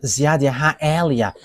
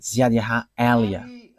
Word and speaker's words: Yahvah Eliah: that is my name, so I pronounce it as my father pronounced it, YAHVAH Eliah.